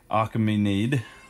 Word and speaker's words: Achaemenid: The Persian Achaemenid, which I butchered, that is spelled A-C-H-A-E-M-E-N-I-D, dynasty, was related